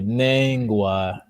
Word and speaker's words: Nengwa: Okay, Nengwa. It's important once again to make sure you stretch the E as you pronounce it.